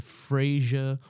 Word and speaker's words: Fraser: So it's Fraser.